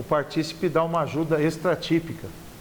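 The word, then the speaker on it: partícipe: que a outra figura o participe vejam a pronúncia correta essa participe o participe dá uma ajuda extra típica quer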